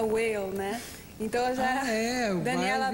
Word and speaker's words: Weil: Então, você estava comentando ontem, antes sobre meu nome, como que pronuncia... Eu estudei sempre em escola americana, que se pronuncia whale, né?